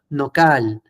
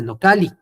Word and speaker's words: nocal: No necesita incluso espacio, no cal, no cal, que suena mucho más suave, armonioso, en vez de nocali, ¿ok? Nocal, nocal.